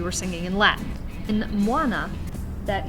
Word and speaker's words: Muana: the southern united states words end in vowel sounds like moana and we're just saying it without thinking about pronouncing it correctly we tend to just want to cheat that last vowel sound of any time or effort so instead of moina as it's supposed to be said we're going to